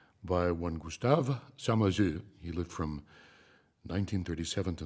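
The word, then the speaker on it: Samazeuilh: It's Samazeux.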